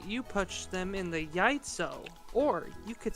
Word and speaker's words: яйцо: Яйцо. Яйцо. Яйцо. Basically, Y-A-Y-T-S-O. Яйцо. You know what that means? Egg. Mm-hmm. So you can say you punch them in the yaitso, or you could say you punch them in the miacha.